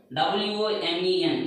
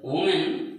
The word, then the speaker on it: women: What is the pronunciation of W-O-M-E-N? It's not woman. It is the right pronunciation is women.